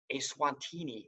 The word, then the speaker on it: Eswatini: to change the name of the country to Eswatini. It's spelled on there for you, E-S-W-A-T-I-N-I, Eswatini.